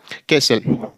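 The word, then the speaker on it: castle: यहां एस टी एल ये क्या हो जाएगा केसल ऐसे यहां यहां पर टी दो बार आया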